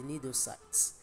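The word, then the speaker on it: cnidocyte: the cells called the nidocytes. I told us about this nidocyte. This nidocyte houses the organelles, and these organelles are called the nidia. Of course, the C is silent when pronouncing it, but remember to write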